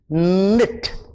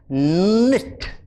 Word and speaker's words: knit: it the word is knit remember the k is silent nit so she's busy there